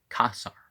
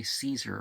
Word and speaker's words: Caesar: The AE as ah, and the C as a K sound. In Latin, you pronounce it that way. In Italian, you don't, but, so we don't say Caesar if we're going to give it a Greek or a Latin sort of pronunciation.